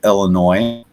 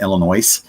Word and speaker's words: Illinois: The S is silent.